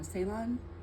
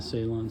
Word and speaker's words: Ceylon: And for cinnamon, what I've heard is that using Ceylon, is how you say it, is much better than all the rest. Right, the Ceylon cinnamon.